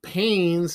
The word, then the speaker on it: Paynes: Now, Paynes is spelled Paynes, not Paines.